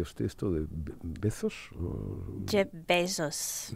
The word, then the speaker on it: Bezos: Jeff Bezos. Bueno, como besos. ¿Has visto? Como besos así como de abeja.